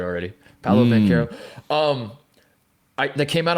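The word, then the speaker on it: Paolo Banchero: me they got me saying it right already paolo van caro um i that came out of my mouth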